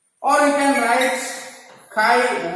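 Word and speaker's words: χ: It is pronounced as chi, not read as X.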